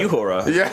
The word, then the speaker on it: Uhura: It's actually Uhura.